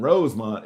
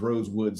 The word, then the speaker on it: Rosewood: I got to give it up to Rosewood here, because Rosewood always corrects him when they get his name wrong. And Rosemont is Rosewood, sir. Rosewood, sir.